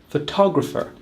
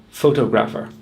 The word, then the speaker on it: photographer: We say photo, we say photograph, so it would make sense to say photographer. But in fact, we put the stress on the second syllable, photographer, not the first syllable, photographer.